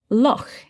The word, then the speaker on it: loch: word in english because this sound this ch that you make in your throat this doesn't exist elsewhere in english it's a scottish word as it says in the text loch is the scottish word for link but this sound is found in in other languages isn't it it is indeed yes i'm thinking of one um it's also found in in german yeah okay so loch meaning